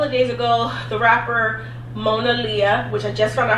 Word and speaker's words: Monaleo: Twitter a couple of days ago the rapper Mona Lia which I just found out how to say